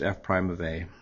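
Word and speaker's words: f′(a): This f with the little apostrophe and then the a, pronounced f prime of a.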